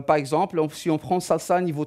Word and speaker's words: SLSA: un framework qui s'appelle salsa SLSA ça se prononce salsa comme la danse mais ça s'écrit slsi